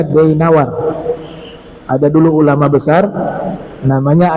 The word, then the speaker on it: Dainawar: Ini bacanya Dainawar.